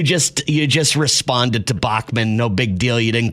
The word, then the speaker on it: Bachman: Bats and dots. Bachman Bachman. Okay. So, you just you just responded to Bachmann.